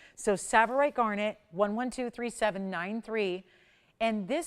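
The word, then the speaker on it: tsavorite: in the world and it's called savorite it's spelled with a t and then an S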